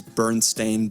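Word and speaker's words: Berenstain: about the mandela effect the way bernstein bears is pronounced is bernstein bears but there's a lot of people who had the presumption that was originally berstein bears s-t-e-i-n but it's s-t-a-i-n it's an interesting case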